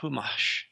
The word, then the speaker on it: Chumash: The Franciscan Brotherhood went in there and committed genocide against what they called the Chumash. I don't think they called themselves that, but it's actually pronounced Humash.